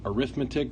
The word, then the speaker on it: arithmetic: Chapter 12, Section 1, Arithmetic Sequences and Series. Yes, that looks like arithmetic, but it is pronounced arithmetic.